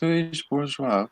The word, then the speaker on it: Bourgeois: Oh, Yeah, it's Louise Bourgeois.